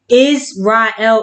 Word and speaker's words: Israel: Israel is 3 syllables, which means which is